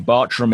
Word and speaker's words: Bartram: just for people listening Bartram is spelt with two A's even though it's pronounced as though that had a u in it so and we'll put